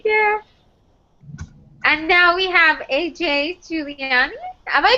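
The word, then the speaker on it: A.J. Juliani: And now we have AJ Giuliani. Am I pronouncing that right? Yeah, AJ Giuliani, like the okay.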